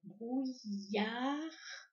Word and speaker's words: brouillard: Donc, brouillard. Alors, à la fin de brouillard, il y a une lettre muette et c'est le D.